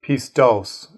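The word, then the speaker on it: πιστός: We want to look at an occurrence of the adjective pistos, is how it would be pronounced.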